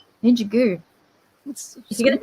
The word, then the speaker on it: Ninjago: It's Ninja Goo. True. Ninjago. Okay, I can work with that. Okay. Ninja Goo. Ninjago, Ninjago. Not Ninja Go. Ninja Goo.